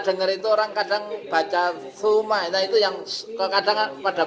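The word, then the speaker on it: ثم: Yang benar adalah TSA. Suma. Bukan suma. Suma itu S biasa itu, salah. Ya sekering Ya, ada imam yang baca bacanya pakai TSA, suma, bukan suma. Suma itu S doang.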